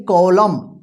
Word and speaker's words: column: देखिए यहां पे COLUMN, देखिए लास्ट में एन है ना एम के बाद, तो इसको क्या पढ़ेंगे, कॉलम। कॉलम का मतलब होता है पृष्ठ का भाग या स्तंभ, ठीक है।